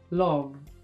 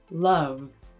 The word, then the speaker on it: love: In the word love, Salma realizes the O spelling as O, love. But This word is pronounced by American English speakers with an love.